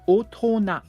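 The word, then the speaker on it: 大人: And then the other word is otona. Otona means adult. Boring. Now, some kanji don't really get their sound from the kanji.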